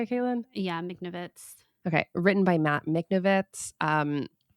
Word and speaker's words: Michnovitz: Yeah, Michnovitz.